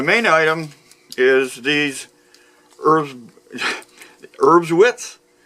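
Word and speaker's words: Erbswurst: item is these herbs herbs wits I think that's how the the the Germans pronounce it what they are is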